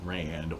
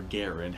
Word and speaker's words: Garand: This is the M1 Garand, or Garand, however it is you want to pronounce it.